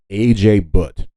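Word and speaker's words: Ajay Bhatt: The main guy who created the USB is a man by the name of A.J. Butt. I think that's how you pronounce his name.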